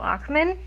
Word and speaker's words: Ochman: So today we have Joe Oxman. Hello Right? Is there. that pronunciation? Yes, perfect. Yes. Got it on the first whack. Yay. Yes, special guest Joe Ockman.